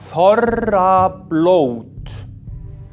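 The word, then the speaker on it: Þorrablót: letter over there well this is th it is pronounced you see this gentleman's name is not really T his name is Thor this piece of knowledge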